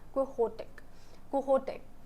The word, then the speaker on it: Quixote: Actually it's Spanish, the name is Spanish, ठीक है, तो इसलिए it is pronounced as Quixote.